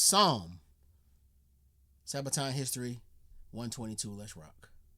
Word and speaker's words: Somme: the Battle of P I think it's just pronounced Psalm Sabaton history 122 let's